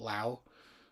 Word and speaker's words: Lao: I know people pronounce that country differently. Um, I pronounce it Lao.